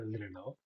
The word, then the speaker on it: reloj: I do hear that sometimes this word is pronounced like a reloj, and that ending is pronounced very light.